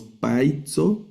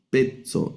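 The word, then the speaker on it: παίζω: El acento siempre va en la primera sílaba, pero no leemos paitzo, sino petzo. Esta a con i la vamos a leer como e peto.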